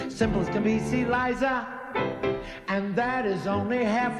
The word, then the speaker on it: Liza: It's Liza with a Z, not Lisa with an S, 'cause Lisa with an S goes nuts. It's Z instead of S, it's Lie instead of Lee.